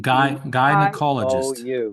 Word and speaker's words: gynecologist: Pronounce that wide just as if you're going to say I. A. Gynecologist.